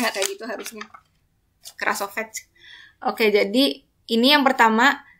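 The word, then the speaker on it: Krasovec: Klimchuk dan namanya Krolsepak kalau nggak salah. Kita itu bahasanya kayak harusnya bacanya nggak kayak gitu harusnya. Krasovets.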